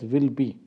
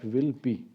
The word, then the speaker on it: Willoughby: Okay, this word you have to pronounce it as will be. There OUGH is silent. Okay, you can simply pronounce it like will be. All right, so the administration for the first time goes to will be.